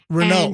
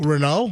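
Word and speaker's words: Raynaud: Renault. Renault. Renault. And like the crappy French car.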